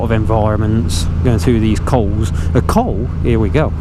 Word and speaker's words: col: language training here the coal is basically a pass there you go I think I mentioned it I couldn't remember how to pronounce it but it's coal like cold dealer flipping poorly that's